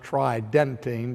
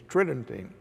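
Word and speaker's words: Tridentine: that council are often discussed by the term Tritton tain it would sounds like it would be pronounced tri dentine but the normal pronunciation is Tritton ting and so when we look to the conciliar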